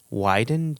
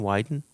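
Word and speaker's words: Wyden: last name right here widen w y Deen widen yeah that's what I would go with you who sponsored the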